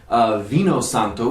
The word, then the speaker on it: vino santo: called Venus antler vinsanto up in Trento Infantino vino santo is the way you pronounce it in in tuscany you'll find it